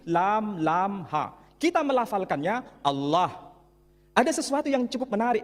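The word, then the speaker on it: الله: Tidak ada seorang pun di kalangan masyarakat Timur Tengah ketika menjumpai istilah Alif, Lam, Lam, Ha dibaca Allah. Tetapi mereka serempak menyebutnya dengan pronunciation Allah.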